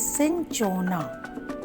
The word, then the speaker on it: cinchona: My dear students, learn the pronunciation. This is cinchona.